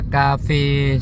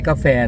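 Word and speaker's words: ກາເຟ: มินิ บิ๊กซี นะ ครับ อ่าน ว่า กาเฟ สด นะ ครับ ไม่ ใช่ กาแฟ นะ ครับ ออก เสียง กาเฟ นะ ครับ อ เหมือน คาเฟ คาเฟ ออก เอ่อ เี่ ประมาณ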